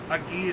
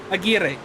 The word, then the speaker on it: Aguirre: I keep going back to the bad pronunciation. This is bad. Aguirre. We're off to a rough start. Aguirre. That's what it is.